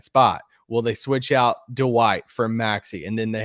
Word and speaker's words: Dwight: Do you know that you say Dwight instead of Dwight? Dwight. You add like an extra syllable in there.